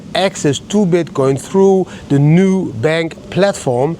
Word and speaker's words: Nubank: Not new, N-U, like the Dutch say, Nubank platform. I don't know how you pronounce it in English, but in Dutch we say Nubank platform, Nubank platform, and Nubank platform, whatever it is, guys.